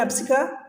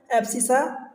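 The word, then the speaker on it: abscissa: हिंदी में देख लो तो एप्सिका, एप्सिसा, एप्सिका या एप्सिसा जो भी आप प्रोनाउंस करो, एप्सिसा जो है एक्स एक्सिस एंड ऑर्डिनेट जो होता है वाई एक्सिस का अंतर।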